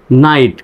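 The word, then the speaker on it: knight: এনজি নেং morning এ নাইট কে এন আইজি এসটি শব্দের প্রথমে কে এন থাকলে কে এর উচ্চারণ সাইলেন্ট হয় মনে পড়ে কি শব্দের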